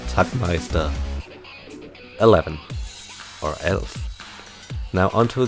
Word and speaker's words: Tagmeister: Or as would be pronounced the German way, Tagmeister 11.